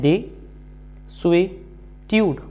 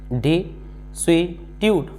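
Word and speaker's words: desuetude: डी ई तो इतना जब हम इसको सिलेबल्स में तोड़ते हैं तो हम देखते हैं डी स्वी ट्यूड डी स्वी ट्यूड अब एटीट्यूड हमें मालूम है ट्यूड को लेकर के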